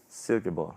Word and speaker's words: Silkeborg: Would you say, because you're from Silkeborg, so how would you say Silkeborg? Silkeborg, okay. Yeah, very good.